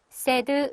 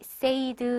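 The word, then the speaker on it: said: 동사에 대한 과거 0이죠 세드 라고 읽으셔야 되는 데 의외로 많은 분들이 세이드 이라고 이러시는 거 고런 고전은 좀 주의해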